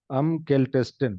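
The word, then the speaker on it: kältesten: काल्ट केल्टर, केल्टेस्टिन, ठीक है। और अभी यहाँ पे देखिए ई एक्स्ट्रा क्यों आया? क्योंकि अगर हम नहीं लगाएंगे उसका प्रोनाउंसिएशन हो जाएगा मुश्किल, इसलिए लग गया।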